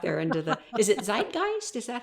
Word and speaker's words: zeitgeist: and just see if we can get it out there into the Is it zeitgeist?